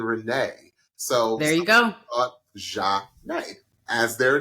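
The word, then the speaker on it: Zhané: So shout out to Zhane, pronounced Zhane.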